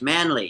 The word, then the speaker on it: Manley: So, so we pronounce the last name Manley. Right. Right. Manley.